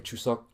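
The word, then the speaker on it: 추석: It is Korean Thanksgiving right now, aka Chuseok is how you say it in Korean.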